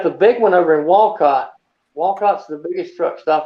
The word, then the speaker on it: Walcott: then you got the big one over in walcott walcott's the biggest truck stop in america oh